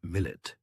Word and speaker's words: millet: The word millet, pronounced millet, is an Arabic term meaning nation or community.